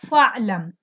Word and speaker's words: fa'lam: So ya'lamu becomes i'lam, but since there is a fa before it, so Hamzatul Wasl is not pronounced. You're gonna say fa'lam. Fa'lam annahu la ilaha.